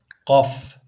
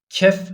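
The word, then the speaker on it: ك: diyorlar Buna da ilginçtir Kaf diyorlar Kaf öyle değil yani Kaf değil bu kefir kef Dolayısıyla Eee bunu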